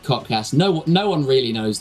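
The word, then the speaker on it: KOTKS: social media uh k o t KS it's pronounced codcast no no one really knows that but uh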